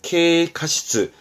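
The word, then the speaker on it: 軽過失: 뒷글자가 과실입니다. 발음은 카시스죠? 경과실, 케카시스.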